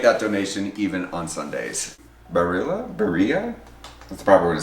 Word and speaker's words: Barilla: Barilla?